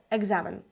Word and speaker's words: екзамен: прикладів ми бачимо слово екзамен Як воно пишеться воно пишеться з літерою к Ек за Мен а як ми його вимовляємо Екзамен екзамен з наче чується звук ґ чому так відбувається тому